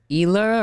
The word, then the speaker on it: Isla: Isla or Isla? Isla. Isla, as Isla, an island.